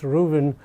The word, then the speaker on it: Ruthven: One of our books was mentioned in an article by Malis Reuven. It's written Ruthven, but it's actually pronounced Reuven in the New York Review of Books.